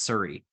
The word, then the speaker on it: Souris: It's near Surrey, PEI, which is actually the French word souris, like for mouse, or SOURIS, but I've been corrected many times that's pronounced Surrey in PEI.